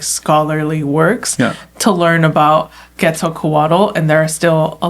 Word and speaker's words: Quetzalcoatl: It's definitely a lot of like scholarly works to learn about Quetzalcoatl, and there are still a lot more questions than answers.